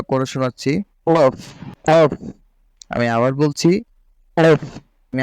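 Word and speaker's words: ق: বাংলা ক থেকে আপনি যদি একটু মোটা করে পড়েন তাহলে কফ উচ্চারণটা হয়ে যাবে। আমি উচ্চারণটা করে শোনাচ্ছি, কফ, কফ।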